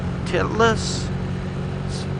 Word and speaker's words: Titlis: I want to do is go to the titless Cliff walkway or walk it's up in a